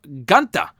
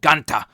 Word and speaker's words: Gunther: We had the SmackDown debut of Gunther. I mean, they call him Gunther during his in-ring introduction. I think it was Kayla that called him Gunther. I don't know. He has called himself Gunther.